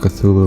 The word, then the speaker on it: Cthulhu: Yeah, pronounced Cthulhu right this time.